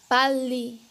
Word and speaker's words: 빨리: Mas se a próxima consoante for outro riur, o som se transformará em L. Pali.